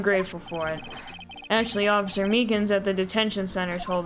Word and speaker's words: Meekins: for it actually officer Meekins at the Detention Center told us ah that poor little doggie poor guy I keep getting his name wrong and calling him meekly I mean almost correct he told us